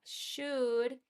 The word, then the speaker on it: should: Here we have should and we have a verb in the simple form in the infinitive way.